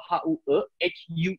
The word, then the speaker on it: Huw: Lou Harvey itu yang jadi waktu saya berkuliah di Inggris itu jadi saya jadi tahu ini ternyata kalau Hue ini tuh ejaannya Hugh juga, tapi it's a Welsh name.